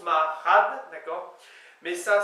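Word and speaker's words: marc'had: Donc ça s'écrit en gros Marchad, mais ça se prononce Marchad, vous voyez.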